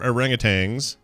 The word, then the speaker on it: orangutan: There's no G at the end, so people who pronounce it orangutan, stop it.